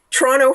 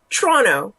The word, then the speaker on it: Toronto: Toronto, for a native Torontonian, does not contain the letter T. So to pronounce it correctly, you have to chew on all your T's till they become C's. So it's Toronto. Toronto.